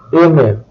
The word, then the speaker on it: aimer: Verbs ending with the letters ER have a silent R. Aimer, manger, tuer.